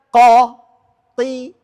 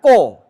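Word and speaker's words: ق: Jadi qof ini tidak pakai o, bukan ko. Qo tadi sudah disebutkan ini fathah yang ditebalkan beda dengan pengucapan huruf O. Fathah yang ditebalkan. bibirnya tidak membulat. Ah, ko pasti bulat ko dan bunyinya beda. Fathah yang ditebalkan bunyinya qo kalau pakai oo jauh beda kan?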